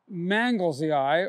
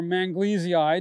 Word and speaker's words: manglesii: This one is Anigozanthos manglesii, or manglesii, depending on how you want to pronounce it, and it comes from Western Australia.